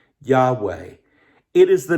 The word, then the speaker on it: Yahweh: In the Hebrew, it's just 4 letters, YHWH. We sometimes pronounce it this way, Yahweh.